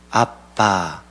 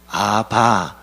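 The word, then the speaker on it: אבא: 샘 조기 사용하는 언어입니다 발음이 똑같이 우리나라 말과 똑같이 아빠 셈족 으로 아빠의 해당합니다 사도 바울은 예수님께서 하나님을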